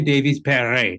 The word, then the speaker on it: Franziska Davies-Perret: So it's Franziska Davies-Perret, as far as I'm concerned.